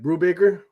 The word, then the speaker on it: Brubaker: they show up that'd be uh mr ed brubaker yeah yeah am i pronouncing that right yeah yeah you said it